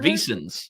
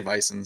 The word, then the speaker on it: Vissens: Is that how you say it? Vissens. There you go. Vissens. I always say Visons.